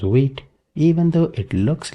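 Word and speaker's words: Vite: First, you can see it is using wheat here and this is pronounced wheat. Even though it looks like white, but it is pronounced as wheat.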